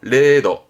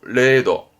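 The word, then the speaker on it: 零度: 그때 영하 발음은 레카 레카 영도 그렇죠? 레도 레도 0점 빵점이요 그죠?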